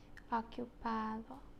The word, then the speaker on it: ocupado: Ocupado.